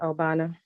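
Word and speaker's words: Ogbana: Obana. The G is silent, right? Yes, Obana.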